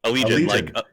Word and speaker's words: Allegaeon: Is that how you pronounce it? Allegaeon? Allegion. It is like Allegion? Like a legion of illiterate assholes.